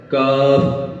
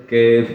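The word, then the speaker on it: كاف: ہے اور اس کے بعد آ جاتا ہے کاف کچھ لوگ some people pronounce it کیف not it's wrong so how will say کاف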